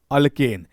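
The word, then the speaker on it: alkane: अगर single लाइन वाला दिखे तो उसके प्रोनाउंसिएशन में एन आएगा।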